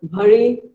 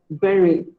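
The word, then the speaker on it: bury: Do you call it bhari, bhuri, or bhuri? Well, none of them is correct. It is simply pronounced as berry. Berry.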